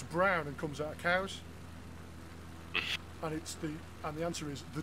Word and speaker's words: Cowes: Yeah, there's the north tip of the Isle of Wight is a town called Cows, and it's spelled Cowes.